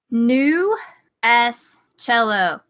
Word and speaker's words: GnuS Cello: cello music it is new s cello and that is spelled like new that the cool spelling of new G in U with a capital S so one word